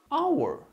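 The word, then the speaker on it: hour: Mas olha só aqui, our, a gente usa o A ou N? Nesse caso, a gente vai usar o N. Por quê? Porque o H aqui, ele é um H mudo.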